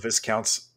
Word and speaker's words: Viscounts: And ever since release of Viscounts of the West Kingdom, we talked about this on one episode.